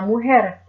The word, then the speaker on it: mujer: H is silent however the letter J is pronounced like a letter H is am ohara la mujer the woman el hombre